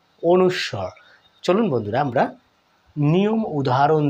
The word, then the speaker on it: অনুস্বর: দেখুন, আমরা কিন্তু ছোট্টকালে শৈশবে একটু ভুলভাবেও কেউ কেউ উচ্চারণটা করে থাকি, তাই না? কীরকম? অনিশ্ব মানে অনিশ্বত বোঝাচ্ছে, বা অনিশ্বর, এরকম ভুলভাবে উচ্চারণ করে থাকি। আজকের পর থেকে আপনারা ভালোভাবে উচ্চারণটাও করবেন। অনুস্বর।